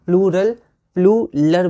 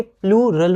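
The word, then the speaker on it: plural: तो कई बार हम लोग इसको बोलने में थोड़ी दिक्कत होती है, कई बार हम लोग प्लूलर बोल जाते हैं, प्लूलर, लेकिन ये प्लूरल होता है, र पहले है, प्लूरल, ठीक है।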